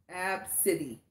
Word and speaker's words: Abcde: so she so the little girl's name is pronounced AB City however it is spelled a now let me let